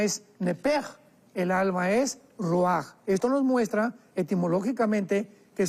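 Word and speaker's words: רוח: espiritual que es la palabra roach, que se pronuncia roaj.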